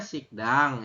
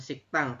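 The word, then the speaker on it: 식당: Kan barusan nomor 12 tulisannya sikdang ini kan sikdang ya yobun tapi kita membacanya adalah siktang Kenapa dibaca siktang karena ada Giok di akhir bertemu dengan di Diget ini ya ketemu dengan Diget ini jadi digetnya dibaca rangkap makanya berbunyi siktang y robun seperti itu siktango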